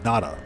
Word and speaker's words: Nada: welcome aboard our home try to tell nata about the atlas excuse me NADA if you mispronounce his name he gets upset if you have something